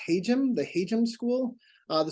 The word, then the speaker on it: Hajim: heard me say uh the engineering school is pronounced haum the haum school uh the school was named